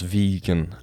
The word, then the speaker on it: Vigen: Vigen is pronounced vegan, like I don't eat meat.